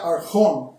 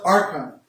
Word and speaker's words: archón: La palabra aquí, la palabra potestad, príncipe, habla del griego, se pronuncia archón, en inglés lo pronuncian archon, y se refiere del diablo, el príncipe de los espíritus malignos.